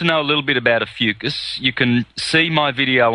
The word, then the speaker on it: Ophiuchus: I can't pronounce it. Ophiuchus. Ophiuchus, thank you.